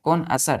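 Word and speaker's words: connoisseur: subject के क्या है कौन असर है आपको क्या बोला जाएगा कौन असर तो पढ़ेंगे बच्चों कौन असर लेकिन लिखेंगे इसका स्पेलिंग ध्यान दीजिएगा सी ओ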